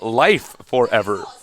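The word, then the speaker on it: LiveForever: also i want i was informed that apparently uh liv forever wants his name to be pronounced uh life forever life that's actually just that's not how you spell if he wants us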